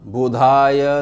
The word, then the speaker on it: बुधाय: ब्रम brim ब्रोम सह बुधाय नमः यह धा है इसमें द और धा नहीं है बुद्धि वाला नहीं है यह केवल धा है इस बात का ध्यान रखिएगा उच्चारण करते समय इसके पश्चात गुरु मंत्र